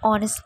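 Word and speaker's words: honest: sound দিয়ে শুরু হচ্ছে example an hour an অনেস্ট effort an এয়ার অ্যান অনরেডিয়াম মনে রাখবে এইচ যদি সাইলেন্ট থাকে তবেই অ্যান ইউজ হয় এইচ উচ্চারণ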